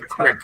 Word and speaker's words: crick: But he joined not just a creek, the right Crick, right. Camp Crick, boys. Crick. Sorry. Crick. Thank you, Joe. I don't want to mispronounce. I'll probably, It is a crick.